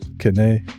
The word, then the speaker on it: Kene: Kene is West African. You pronounce the name as you see it.